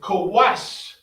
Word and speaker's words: Kush: Ethiopians all right and how you say it is kawash call watch all right so it